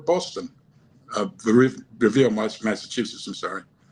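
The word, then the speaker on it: Revere: at the veterans uh foreign veterans post in Rivier Boston Revier, Massachusetts. I'm sorry. Well, if you're going to be in Boston, you have to pronounce it correctly. Up there, they call it Ravier.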